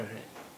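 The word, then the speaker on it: ה: पांचवा अक्षर है हे, हे, हे। इसकी आवाज हिंदी के हा जैसी होती है, लेकिन अगर किसी शब्द के आखिर में ये हे आता है तो वहाँ पर उसका उच्चारण हा जैसा ही होता है, हे।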